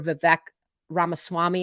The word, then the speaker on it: Vivek Ramaswamy: and South Carolina Governor Nikki Haley, tech entrepreneur Vivek Ramaswamy, I think is how you say his name.